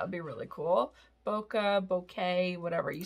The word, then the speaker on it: bokeh: in so i can just grab this like bokeh and that would be really cool bokeh bouquet whatever you spell that b-o-k-e-h and that gives you like the